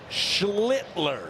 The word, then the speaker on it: Schlittler: That was Did you hear how much stank I put on every one of those letters? Schlittler. Consonants are important.